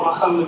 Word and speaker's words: Mohammed: So or Mohammed, if you want to say it correctly.